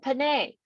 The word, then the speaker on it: Panay: lot of names and it's always pronounced as an eye perfect yeah like messiahs